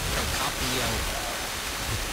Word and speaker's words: Procopio: Procopio. Missed the syllable there.